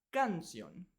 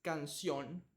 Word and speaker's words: canción: ejemplo en la palabra canción La o tiene una tilde significa que vamos a pronunciar más fuerte esa sílaba canción si cambiamos la tilde a la a suena canción pero es incorrecto la